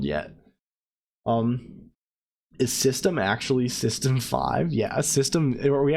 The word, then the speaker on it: System V: __ ] up if so yeah it is system five I've always said this system V2 oh like